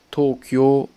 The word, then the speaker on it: Tokyo: peu plus bien sûr vous allez pas dire tokyo mais vous allez un petit peu plus le prononcer vous avez pas dire tokyo mais tokyo tokyo voyez c'est pas pareil tokyo plus haute attention kyoto c'est que